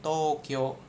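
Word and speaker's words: 東京: Nah, nah itu dibacanya Tokyo gitu kan atau mungkin Bang misalkan ginko.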